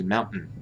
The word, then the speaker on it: mountain: Mountain, you don't pronounce mountain unless maybe in parts of Britain or something. But usually in America, we say mountain, which is like a, I think it's a glottal stop, or maybe it's a nasal stop.